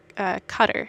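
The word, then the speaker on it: Qatar: that brings dogs over from cutter is how you pronounce it it's a little tiny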